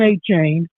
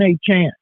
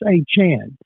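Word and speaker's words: Achane: Devon a chain he was Devon a chained and a m now he's Devon a Chan he told Peter King uh um on his football American column it's a Chan so he's changed the pronunciation of his first and last name that helps him average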